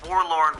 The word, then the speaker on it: Warlorn: And Warlorn rhymes with forlorn, which means abandoned or lonely.